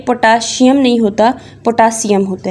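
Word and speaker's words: potassium: Google भी आपको इसकी प्रोनाउंसिएशन पोटासियम बताएगा, ना कि पोटाशियम। ठीक है, कैल्शियम, पोटाशियम, मैग्नीशियम। ठीक है, ये शियम नहीं है, सीएम है।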